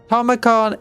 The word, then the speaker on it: Tamurkhan: Tomicon is how it's meant to say his name.